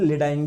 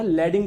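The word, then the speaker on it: Leydig: लैडिंग cell, या आप लोग इसको हिंदी में लेडाइंग भी बोल सकते हो ना, लैडिंग बोलेंगे ज्यादा सही रहेगा। लैडिंग लैडिंग लैडिंग, इसका प्रोनाउंसिएशन क्या है, लैडिंग है, ठीक है।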